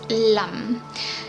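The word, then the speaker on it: लं: There is a Bij mantra, which is a seed mantra for Mooladhara Chakra, and this is pronounced as Lam.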